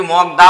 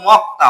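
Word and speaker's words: 먹다: এবার আমি যদি লিখি এটাকে কি মগদা বলব না এটাকে কি বলব মতা বলব কেন বলব বাবা বাচিমে আমি ক পেয়েছি এবং উপরে দেখছি যে সাংের দিগু সাং হয় তাহলে সাং দিগুতে ত হয় তাহলে এটা আমি পরিবর্তিত রূপটা উচ্চারণ করব মক্তা মক্তা মানে হচ্ছে খাওয়া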